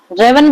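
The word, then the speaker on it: raven: ऊपर, रावण किसके लिए, रेवन भी बोल सकते हैं हम इसका, जो प्रोनाउंसिएशन है रेवन।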